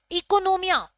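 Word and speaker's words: οἰκονομία: इकोनोमिया, यहां पर जो ओ है This O is silent. Okay. Economia.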